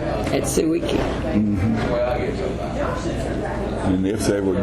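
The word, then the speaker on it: Tsuiki: It's spelled T-S-U-I-K-I, Suiki.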